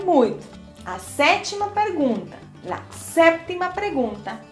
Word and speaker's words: séptima: A sétima pergunta, a séptima pergunta, em espanhol, é importante pronunciar aquela P antes da T.